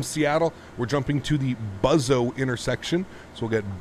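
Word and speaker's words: BUWZO: intersection so we'll get buzz oh in here b u w z o o depends where you are in the world and how you pronounce that a buzz-oh and we'll accept that cool and then from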